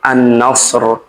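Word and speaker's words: النصر: J nama surat ini adalah surah an-Nasr. Pakai huruf shad. Nasr ya. Oke, berarti dibaca tebal. Annasr.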